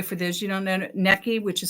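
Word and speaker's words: Necchi: by the way for those you don't know necki which is spelled NE e CC H is an Italian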